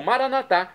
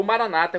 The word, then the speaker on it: Maranata: E agora eu clamo Maranatá, como dizemos nós católicos, ou Maranata, como dizem nossos irmãos das comunidades evangélicas ou protestantes.